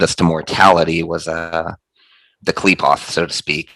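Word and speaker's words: Qliphoth: Klepoth. Klepoth, yeah. I think it's pronounced Klepot, but it's spelled with the TH.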